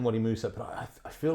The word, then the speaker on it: Wadi Musa: He's saying, we're both saying that, but is it Wadi Musa, Wadi Massa? Yeah, I think that was Musa was the way he said it.